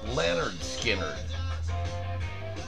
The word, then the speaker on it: Lynyrd Skynyrd: to slash in Leonard Skynyrd from the album pronounced Leonard Skynyrd and that is Leonard Skynyrd not Lynyrd Skynyrd it's leonard skinner the poison whiskey princess crown right there you